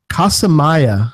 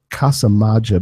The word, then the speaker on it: Casamaya: Zero, EGK PBR, and Casamaya. And I think I mispronounced that last week, and I said Casamaja, but somebody have corrected me on our Norwegian. It's our Norwegian patron, Casa Maya.